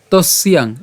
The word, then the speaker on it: তস্যাং: ইয়া নিশা, এরপর সর্বভূতানাং তস্যাং, এই যে তস ইয়াং, তাই আমরা একসাথে উচ্চারণ করব।